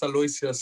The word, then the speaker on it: Aloysius: Did I pronounce it correctly? Sê dit reg, Aloysius. Dit is Aloysius, ja.